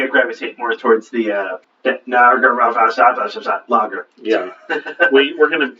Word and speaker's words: Narragansett: So I think the emphasis is on the gon. Narragansett?